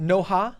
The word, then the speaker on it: Noha: All right, so is it Noha? Yes, it's Noha, and it's spelled N-O-H-A. So it's the way it's spelled. Not Noah.